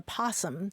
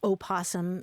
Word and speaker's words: possum: and it's called a possum just simply possum p o SS u m but so it's not that the O is silent it's really that there are two different versions of that word opposum and possum and like